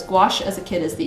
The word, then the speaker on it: gouache: Thomas says, gouache sounds delicious. Is that because it rhymes with squash?